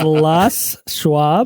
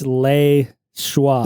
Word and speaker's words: Les Schwab: It's Les Schwab. Les. Les Like Schwab. Les- You Olsen. notice there's a capital L, a space, and then a capital S, right? Oh, it's Le Schwab. It's not. No, it's Les Les is the Schwab. first name of the guy who started the company.